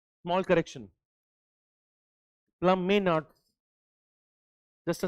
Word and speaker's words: Plamenatz: प्लमेनार्ट्स. Just a small correction please make. John Plame, PLAMENATZ. That is the correction. एक ई आएगा यहाँ पे, प्लामा नहीं, प्लमेनार्ट्स. ओके, शायद ये है नाम, एक बार देख लेंगे.